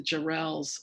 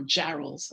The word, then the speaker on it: Jarrell: yes by um the jarrells or jarrolls i always mispronounce the name it's jarrell like barrel um jay jarrell and